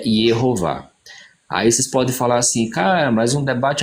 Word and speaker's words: Jeová: e com base neles a pronúncia que nós podemos usar claramente em hebraico é jeová aí vocês podem falar